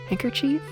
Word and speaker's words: handkerchief: I think I think handkerchief. I mean, I just completely replace the D there. I just don't pronounce the the D in hand. I just say hang.